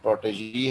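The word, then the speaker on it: protégé: इस he is a protege, pronunciation protege है, he is a protege as he is learning under the patronage of a famous artist of the town।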